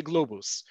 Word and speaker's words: Globes: The URL for the Hebrew page is Globes, so that's why I'm pronouncing it as globes. You will hear people pronounce it as globus.